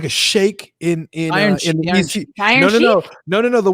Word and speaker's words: Sheik: the sheik or the shakes whatever from ecw yeah you say it's pronounced shake but whatever the shake